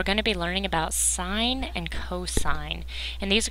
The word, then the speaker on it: sine: Sine, it looks like sin, but it's actually pronounced sine.